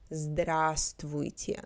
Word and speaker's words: здравствуйте: on the side formal greetings strangers and professional здраствуйте здраствуйте in midle здравствуйте здравствуйте first в inounce the second pronounce здравствуйте До свидания.